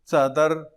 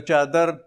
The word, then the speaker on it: څادر: خو د افغانستان پښتانه د دې هغه اصل تلفظ چې څې ورته وایي، څپلی، څادر، مروت څادر ته څکالی وایي، څکالی. نو دغه لفظونه مروت ورونه هغه تلفظ کوي په چ سره، لکه چادر، چکالی، چاچکي، چپلی.